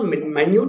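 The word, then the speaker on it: minute: Okay, scrutiny का मतलब होता है क्लोज अ माइन्यूट एग्जामिनेशन। यहाँ पे देखिए मिनट लिखा हुआ है, स्पेलिंग वही है लेकिन यहाँ पे प्रोनाउंसिएशन इसका माइन्यूट हो जाएगा, मिनट नहीं होगा, क्योंकि जो मिनट होता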